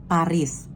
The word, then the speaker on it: Paris: akhir kata tidak disebutkan contohnya Paris dibaca pari esnya nggak disebutkan aturan kedua pada umumnya